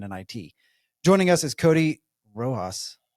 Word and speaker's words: Rojas: business and in it joining us is Cody roas right the I pronounce that correctly okay I wanted to make